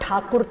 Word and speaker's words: ठाकुर: से, कौन थे रविन्द्रनाथ टैगोर? अंग्रेज ठाकुर नहीं बोल पाते थे तो टैगोर बोलते थे, रियल में रविन्द्रनाथ ठाकुर थे, वो ठाकुर नहीं प्रोनाउंस कर पाते थे तो टैगोर टैगोर।